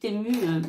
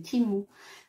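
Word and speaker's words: Temu: d'anglais m'a dit maman ça se prononce timou alors maintenant il faut que je dise timou mais c'est vrai ça fait bizarre moi j'ai toujours dit ému non c'est timou ok donc on va dire timou donc j'ai encore des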